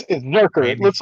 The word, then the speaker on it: Zurcher: It's Zurcher. Randy It looks like Zurcher, Georgia. but it's pronounced Zurcher with the hard K.